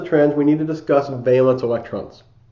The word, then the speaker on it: valence: Before we move on into the rest of the trends, we need to discuss valence electrons. So this is pronounced valence, not valence.